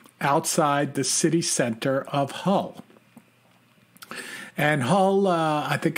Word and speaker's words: Hull: center of a city called Hull like the hull of a ship and uh for our